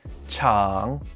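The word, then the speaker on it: 场: people and hold events this character is pronounced chang and means place it is used in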